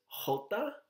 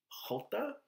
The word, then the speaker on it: jota: AI in Spanish and E the J it's pronounced as Jota Jota the K makes a cop sound cop the